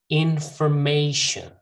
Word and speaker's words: information: umbrella okay umbrella umbrella information infer not for commonly mispronounced word in formation information student you know that